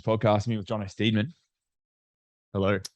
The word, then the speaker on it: Steedman: I'm pronouncing your surname correctly. Well, no, but no one does. It's Steedman. Oh, really?